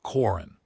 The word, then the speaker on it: Corin: She said it again, Corin. This time the second syllable slightly stressed, not quite the way I said my own name, the Varath stress precision I recognized from the cultural notation in her file.